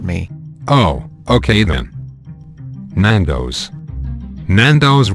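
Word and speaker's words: Nando's: oh okay then nandos nandos rhymes with tornadoes the word tornadoes has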